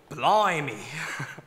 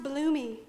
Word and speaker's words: Blumey: Blimey, but it's pronounced bloomy.